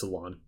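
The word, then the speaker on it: Alain: they aired the Mega Evolution specials that starred Alon and yes that's how you pronounce his name it's Alon now I'm not going to explain any of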